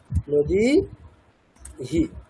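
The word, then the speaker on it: নদীঃ: দীর্ঘ যদি আসে, যেমন নদীহি, এটার উচ্চারণ কেমন হবে? নদী হি, অ্যাকচুয়ালি হ্রস্ব হবে, উচ্চারণটা হ্রস্ব, নদীহি।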